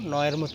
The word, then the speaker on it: know: তারপর হচ্ছে নো, KNOW, এখানে কেটা সাইলেন্ট আছে।